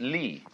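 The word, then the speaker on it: 理: universe which is this they pronounce it Lee now this sign has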